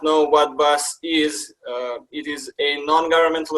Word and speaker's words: BAS: Bay Area Serbs is also known by its abbreviation BAS, pronounced as BAS. And for those of you who do not know what BAS is, it is a